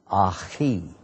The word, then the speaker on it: akhi: And when it's possessive, my brother, it has the E sound at the end of it, akhi, akhi. Plural, ikhwan.